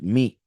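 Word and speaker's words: מי: the the man because remember that who in Hebrew is pronounced me me and me the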